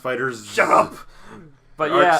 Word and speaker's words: FighterZ: No, it's pronounced fighters.